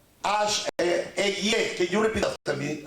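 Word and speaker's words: אֶהְיֶה: El hebreo dice Eguié, Eguié, can you repeat after me again?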